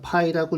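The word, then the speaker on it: π: 배웠죠 초등학교 때 배웠어요 파이라고 읽죠 파이 자 지름의 길이에 대한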